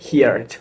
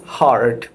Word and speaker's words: heard: 90% answer করছে যে হিয়ার্ড, but this isn't হিয়ার্ড, this is হার্ড। হার্ড, ওই আমরা হার্ড যেভাবে আমরা বলি HARD হার্ড, সেই রকম এটার উচ্চারণটা হবে হার্ড, নট হিয়ার্ড, ওকে।